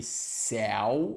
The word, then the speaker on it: céu: desprender o El aqui ele é aberto não é igual ao el seu seu eu seu é fechado e céu é aberto é o de chapéu é diferente do é o de seu seu e céu viu o que quer